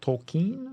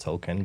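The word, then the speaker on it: Tolkien: Tolken, I think is how you say it.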